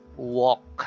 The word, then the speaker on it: walk: u and the a r so they are pronounced as o so you say walk silent L talk alter wall so so in